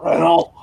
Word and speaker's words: Renault: When you say his name, you have to sound like Pepe Le Pew. Renault.